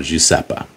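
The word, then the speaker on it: Iosepa: the spelling is i o EPA apparently it's pronounced JEA so jeppa okay um that's in Skull Valley now that's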